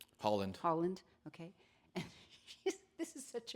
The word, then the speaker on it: Haaland: She is out with the New Mexico gubernatorial candidate, Deb Haaland. Am I pronouncing her name right? Holland, okay.